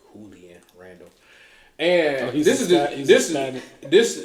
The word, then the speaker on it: Julian: Julian Randall uh he he would like that Jay to be pronounced like julan Randall and this is